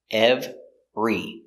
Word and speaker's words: every: let's talk about it these words are special because they look like three syllables EV ver EV e ever we don't say ever we have in the middle we have a three syllable word with ir in the middle we pronounce it with two syllables we push them together every together every every not